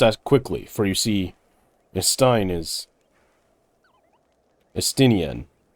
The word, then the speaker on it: Estinian: We must act quickly, for you see, Estinian. Why do I want to pronounce it Einstein? It's not Einstein.